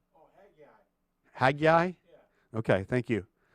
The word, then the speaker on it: Haggai: Steve, do you know how to pronounce Hagggai? Hagggai. Oh, Haggai.